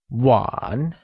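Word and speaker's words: 晚: one Chun here again one is pronounced in the falling Rising tone meaning night and sh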